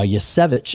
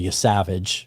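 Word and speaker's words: Yesavage: Uh, Yvich, I think is how it's pronounced, even though you want to say Yavage, right? Especially if you're a Blue Jay fan.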